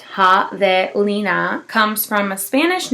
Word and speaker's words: javelina: Javelina, pronounced Javelina, comes from a Spanish name for the colored